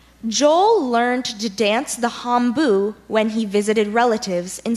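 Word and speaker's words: hambo: sentence please sure Joel learned to dance the hombu when he visited relatives in Sweden hombu are there any alternate pronunciations I just have hombu hombu I'm blue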